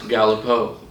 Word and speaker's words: Galipeau: gee al i peña you miss French Canadian it's pronounced Galipeau go up a little Galipeau